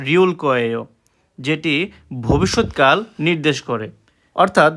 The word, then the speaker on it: 거: আর এটা কিন্তু গয়েও উচ্চারণ হবে না, কয়ে উচ্চারণ হবে, মানে ক দিয়ে উচ্চারণ হবে। ঠিক আছে, কয়েও, এই যে এটা যদি গ দিয়ে উচ্চারণ করেন তাহলে ভুল। কোরিয়ানরা এটাকে কয়ে উচ্চারণ করে থাকে।